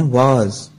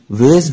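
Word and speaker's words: vase: گلدان کو انگلش میں کہتے ہیں واز. واز. اس کے علاوہ اس کا تلفظ ویز بھی استعمال کیا جاتا ہے.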